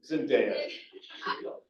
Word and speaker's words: Zendaya: Yeah, Zendaya.